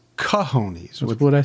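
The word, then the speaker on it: cojones: I mean, they That's uh some gahones. Now you're calling them gahonesies. What do you think uh should be said as? Well, it's pronounced kahonies.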